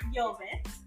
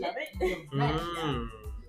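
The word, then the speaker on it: Luvitt: It actually is pronounced Yovet, but a lot of people just say love it.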